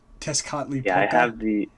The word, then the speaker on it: Tezcatlipoca: The first one is the here I had the pronunciation up. The first one I'm pretty sure that's how you say it. Tezcatlipoca.